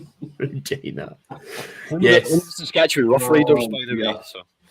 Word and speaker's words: Regina: He's from the city that rhymes with fun, Regina. Regina.